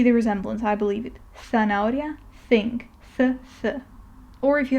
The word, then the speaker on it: zanahoria: is th, which again is pronounced very similarly to one of the pronunciations of C. Okay, so it's like the TH in thing, for example. And again, I'll use the example of zanahoria, which I have said before is carrot, zanahoria.